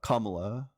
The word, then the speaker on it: Kamala: but uh the her her name is pronounced kamla sorry no you're good I know that but for some reason it's just habit because for so long I said it the wrong way it's not any like